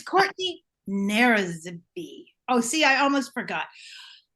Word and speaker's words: Nzeribe: Nzeribe. Nzeribe. Nzeribe, beautiful.